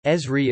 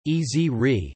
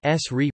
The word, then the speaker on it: Esri: pronunciation of company name according to the company Ezri is pronounced as a word easy re some distributors outside of the USA such as ESRI Canada market themselves with the S REE pronunciation followed by the